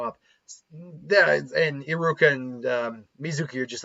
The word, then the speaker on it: Mizuki: in muki's plans obviously or I keep saying Mizuki it's Mizuki and there is a difference in how that's that's pronounced um but whatever not